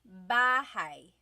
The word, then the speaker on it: bahay: Bahay. Bahay. You might notice that the spelling is A-Y at the end, so it looks like bahay, but it's pronounced bahay. That A-Y combination is bahay.